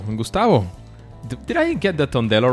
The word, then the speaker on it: Tondello: Gustavo, did I get the Tondello right? Is that the right pronunciation?